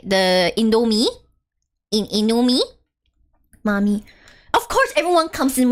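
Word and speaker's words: Mamee: I'm talking about the M-A-M-E-E noodles. They just happen to be spelled like Mommy. Can you guys stop spelling it like that? It's not Mommy.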